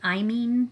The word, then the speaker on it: imine: I'm not great at kind of spelling things phonetically, but if you could think of like mean, that's kind of how it's pronounced. I have seen some people pronounce it imine, but those are not chemists that I've heard pronounce it that way.